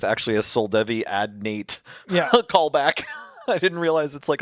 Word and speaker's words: Adnate: until just now that it's actually a Soldevi Ad Nate Yeah. callback. I didn't realize it's like a love letter to Soldavi Ad Nate or Adante or whatever that.